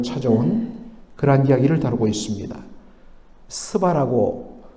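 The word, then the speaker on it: שבא: 그러한 이야기를 다루고 있습니다 스바라고 그렇게 되어 있고 또 무도를 보면 씨바라고도 되어 있는 문을 보게 되는데 정확한 히브리어 발음은 쉐바입니다 쉐바의 현재 위치를 뭐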